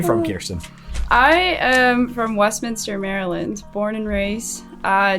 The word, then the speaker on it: Westminster: to steal Eric's question is it Westminster or West Minister West Minister it's Westminster okay very good but it should it should